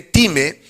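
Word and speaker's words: τιμή: aprendan a decirles gracias la honra en griego se pronuncia tim y aunque se escribe ti me lo tienen en pantalla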